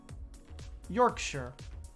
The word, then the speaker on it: Yorkshire: what's up ray now if a place in the uk ends in shire you pronounce it sure it's a unanimous thing yorkshire manchester do you guys